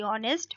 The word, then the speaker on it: honest: ठीक है, स्पेलिंग आप इनकी याद करेंगे क्योंकि इसमें एच जो है वो साइलेंट है। ठीक है, तो HONEST, ऑनेस्ट, ऑनेस्ट कहते हैं ईमानदार।